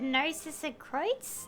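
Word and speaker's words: Narzissenkreuz: That was quite the conversation, though, considering we hear a lot about the Narcissus Kreutz, that's how it's pronounced, in the Fontaine World Quest series that I've mentioned a few times during that cutscene.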